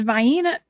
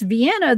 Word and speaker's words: Vienna: So now now we got three ways to pronounce it, right? Vini. Vena. Well, there's Vina. Vyena. There's Vienna the right way.